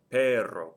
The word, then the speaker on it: perro: Since it ends in a vowel, the stress is on the first to last syllable. No accent mark. The word below it, perro, perro, perro, ends in a vowel.